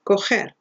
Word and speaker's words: coger: But if it's followed by E or I, this is pronounced with a low guttural sound, that ch. So that verb there is called coger, okay?